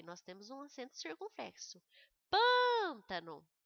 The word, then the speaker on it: pântano: Pântano, o pan é a sílaba pronunciada com mais intensidade.